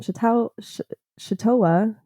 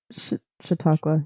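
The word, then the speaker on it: Chautauqua: Um so on August 12th 2022 Salman Rashi was scheduled to give a lecture in I don't like pronunciation shioa what is ita it's shiakwa yeah no you're right in New York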